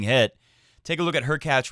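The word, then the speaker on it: Hurkacz: take a look at her catch rhymes with latch being extremely frustrated with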